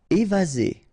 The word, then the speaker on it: évasé: Évasé, remember one S between two vowels, Z, évasé.